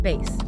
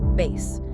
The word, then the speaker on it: bass: It's pronounced bass. B A S, but said like bass.